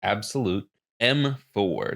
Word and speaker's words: Abxylute: Yes, it's pronounced Abxylute M4.